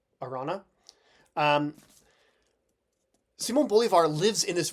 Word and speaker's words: Arana: I think that's how you pronounce her name, Arana.